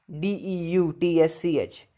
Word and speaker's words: deutsch: Like we have a word, deutsch, D-E-U-T-S-C-H. E-U is I and T-S-C-H is ish. So, it is deutsch.